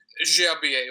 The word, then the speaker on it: Gerbier: Philippe Gerbier, or Gerbier, is that how you pronounce it? Gerbier.